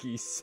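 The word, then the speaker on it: Ghis: Oh, and there's of course one of my favorite lines from one judge Geese. His name is spelled uh G H I S and it is pronounced geese.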